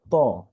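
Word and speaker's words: طاء: Next page, আমাদের এখানে যে হরফটি দেখছি আমরা সেটা হচ্ছে হলো ত। এটা একদমই সহজ, বাংলায় তর মতো, তবে এই হরফটি উচ্চারণের ক্ষেত্রে একটু মোটা হবে।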